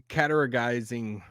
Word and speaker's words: categorizing: We don't really pronounce the T in English, do we? Categorizing. We just kind of like skip it a little bit.